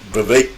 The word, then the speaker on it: Vivek: be too bad but Vivek rhymes with cake ramaswamy does not speak the truth I would almost honestly say it's very difficult to get the truth out of him but that was the Vivek Clips the baker I'm